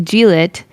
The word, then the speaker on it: Glit: I thought it was going to be G-Lit. No, But- everyone. No, they literally wrote it's pronounced as Glit, not G-Lit.